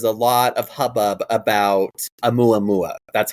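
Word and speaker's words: ʻOumuamua: So, you'll remember a few years ago that there was a lot of hubbub about a mua mua. That's how you pronounce it.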